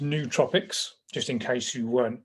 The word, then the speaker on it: nootropics: Well, it's pronounced nootropics, just in case you weren't sure.